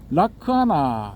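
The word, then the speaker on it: lakkhaṇa: 그 중에서 이제 특징에 해당되는 락사나가 이제 빨리어로는 라크아나 이렇게 발음이 되거든요.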